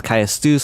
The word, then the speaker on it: Caestus: Some people say it's Caestus, some people say it's Castus. I'm going to say Castus, and that is a fist weapon, which will be the next weapon we will be using.